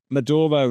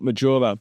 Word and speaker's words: Maduro: name it won't matter Maduro not madoro Maduro okay can you do